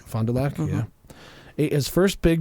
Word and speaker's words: Fond du Lac: I'm sure that I pronounced that Fond du Lac. Fond du Lac, yeah.